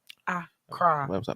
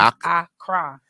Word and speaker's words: Accra: Accra. Got to put the emphasis in the right place. Accra. Put the emphasis on the right syllable.